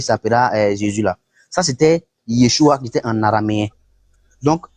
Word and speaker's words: Yeshua: Ça s'écrit Y-E-S-H-U-A.